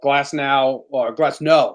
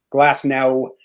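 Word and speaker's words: Glasnow: So Glass no. It is pronounced like a no. No. Glass no.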